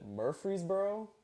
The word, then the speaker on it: Murfreesboro: I just wanted to know, from Middle Tennessee, if I'm saying it right, is it Murfreesboro, Tennessee?